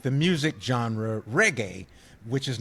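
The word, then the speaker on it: Regé: No, it says it sounds like the musical genre reggae.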